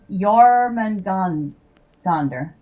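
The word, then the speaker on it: Jörmungandr: I just thought I'd show that to y'all cuz Yorman gandonder. Yman gandonder. Oh, that's right. The J isn't pronounced J in in uh Nordic languages. It's pronounced Y.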